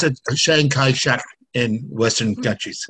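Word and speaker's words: Chiang Kai-shek: longest time Taiwan go ahead Chris we we pronounce it Shang Kai Shack in Western countries say that again Shang Kai Shack okay thank you for saying that the proper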